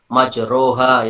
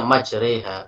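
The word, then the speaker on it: مجريها: Tapi ketika di surat Bismillahirrahmanirrahim wa mursaha majreha, itu nggak bisa kita baca majroha, itu nggak bisa. Tetap harus kita membacanya majreha.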